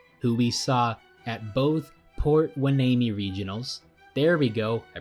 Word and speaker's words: Port Hueneme: The 1 seed of Robot Dolphins and High Tide, who we saw at both Port Hueneme regionals, there we go, I pronounced it right this time, took on the